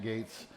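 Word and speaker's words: Gaetz: while ago uh i i can't pronounce his name but it's matt gates and i believe it just i believe it's spelled like g-a-e-t-z or something like that yeah and this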